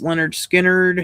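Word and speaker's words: Lynyrd Skynyrd: Stripes, Station to Station, David Bowie, Chicago, self-titled, pronounced Leonard Skinner, Heroes, 52nd Street, Zeppelin 3, Jazz, Glass Houses, Born in the USA, Ghost in the Machine, The Works.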